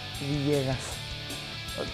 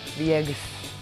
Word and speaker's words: Villegas: The way you pronounce my name is Villegas. Almost people just say Villegas, but it's not that way. Because in Spanish, double L, you pronounce it like Y.